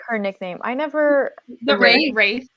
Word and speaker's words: Wraith: The Wraith. Wraith. Okay. Yeah. The W does not exist.